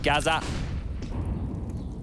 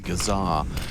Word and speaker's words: Gazar: forced error get him Gaza actually his name is pronounced gazar oh let's get 20